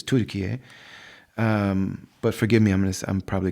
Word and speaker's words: Türkiye: Literally, most of the country of Turkey, which they've officially renamed the way they pronounce it here, which is Türkiye.